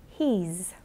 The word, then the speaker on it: he's: He has, he's. She's, it's. Slight difference in pronunciation there to notice. With he and she, it's a z sound, and with it, it's a s sound.